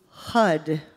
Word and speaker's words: HUD: I say this in the book, but I mean, HUD rhymes with thud.